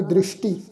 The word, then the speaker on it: दृष्टि: जाकी दृष्टि ससे पैर बिंदी लगा के उच्चारण करांगे दृष्टि।